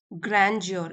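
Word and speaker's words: grandeur: उतरना स्लोप से द ग्रेंजियर ग्रंजियर इसको यहां पे सॉफ्टली प्रोनाउंस करेंगे ग्रेंजियर of sunset behind a mountain और इसका मीनिंग होता है यह ये एक नाउन है।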